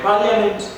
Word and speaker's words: parliament: Which letter is silent? I. No, parliament is parliament.